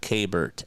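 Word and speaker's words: Keibert: I think the proper uh the proper pronunciation in Spanish would be Kbert.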